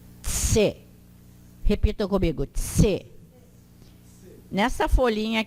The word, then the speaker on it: c: A letra C em Esperanto tem o som de tse. Tse.